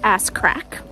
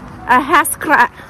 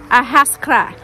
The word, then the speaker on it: Ahascragh: say it say it so it is not pronounced ass crack which is how I pronounced it the first